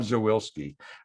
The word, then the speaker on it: Zawilski: I think I'm the only person in the district that pronounces his name right, Zawilski.